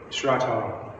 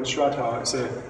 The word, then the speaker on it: Shraddha: What Xuanzang had in bucket loads was this quality called Shraddha, and it's spelled S-R-A-D-D-H-A, Shraddha.